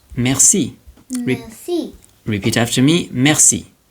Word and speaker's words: merci: Then, there's the E that sounds like E. And an example of that is the word merci.